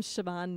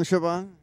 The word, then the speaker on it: Siobhan: I am Siobhan. How do you spell Siobhan? It's spelled S-I-O-B-H-A-N, so not at all how it sounds. Not even close.